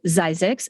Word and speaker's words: Zzyzx: So Zzyzx, unusual name. It is spelled ZZYZX, and yes, it's an exit, so